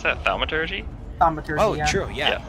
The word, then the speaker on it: thaumaturgy: I have a how do you pronounce that? Thaumaturgy? Thaumaturgy, Oh, yeah.